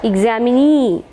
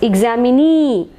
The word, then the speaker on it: examinee: we can say that examinee knee is given more stress examinee e is given knee